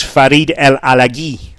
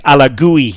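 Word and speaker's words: Farid El Alagui: hibs as well and his real name is farid el aleghi that's how he pronounces his name now i'd heard it being pronounced differently i think ala gooey was was what people had been calling him and this was my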